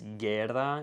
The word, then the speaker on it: guerra: word like guerra, it's guerra, you kind of just don't pronounce the U.